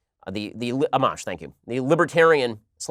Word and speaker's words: Amash: Justin Amash, I think it is pronounced, Amash, thank you, the Libertarian / Republican congressperson.